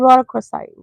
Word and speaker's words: rhodochrosite: Okay, so I know how to pronounce this. This crystal is called rhodochrosite.